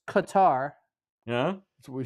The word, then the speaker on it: Qatar: It's Qatar.